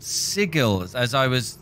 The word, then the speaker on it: Sigil: So, can you tell me a little bit about Sigil? I know this was probably six episodes ago. I was told that it's pronounced Sigil and not Sigil.